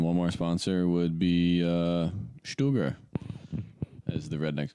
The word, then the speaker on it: Steger: Because we just both got done reading the Beyond Fundamentals book by Ben Steger, which is actually supposed to be pronounced Stuger.